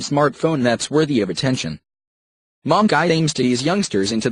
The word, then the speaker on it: Monqi: At the moment, you can buy the Monqi, pronounced Monqi, phone at the Carphone warehouse for £149 SIM-free.